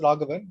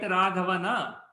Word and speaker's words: Raghavan: See, typically in Hindi what happens, the last akara we don't utter, it is silent. Okay, so even if you write Raghavana, the last akara you don't utter it out.